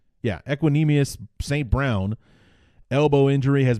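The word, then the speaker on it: Equanimeous: Equanimous? Yeah, Equanimous St.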